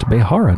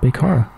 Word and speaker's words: Behara: I just realized while reading that it is pronounced Behara, not Bekara.